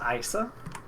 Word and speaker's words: Isa: I think it's pronounced Isa. Isa. I'm gonna say Isa, because I think that's what they say in Kingdom Hearts 3 at least.